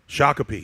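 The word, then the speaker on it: Shakopee: So, that's s h a k o p e. Shakipi.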